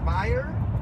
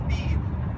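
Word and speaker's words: bir: So would you pronounce it as buyer or as beer?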